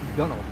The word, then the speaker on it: gunwale: But I think it's sort of like a gunwale on a boat. It's pronounced gunnel, I believe.